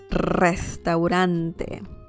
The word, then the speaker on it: restaurante: yes that is correct restaurant you really have to roll your r right there restaurant life of pie says